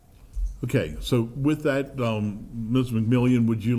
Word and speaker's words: McMillian: McMillan, state your name, address, and occupation and spell for the record. It's McMillian. I'm sorry, I said it wrong.